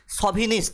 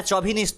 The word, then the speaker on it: chauvinist: আমরা সবার থেকে বড়, এই মানসিকতা যিনি পোষণ করেন তাকে এক কথায় বলা হয় সভিনিস্ট। এটা চভিনিস্ট নয়, সভিনিস্ট হয়। আমরা মেল সভিনিস্ট বলি, CHAUVINIST, প্রোনাউন্সিয়েশন হবে সভিনিস্ট।